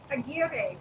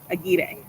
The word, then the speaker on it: Aguirre: it, even though she sent me the phonetic pronunciation. So tell me again. Aguirre. Aguirre.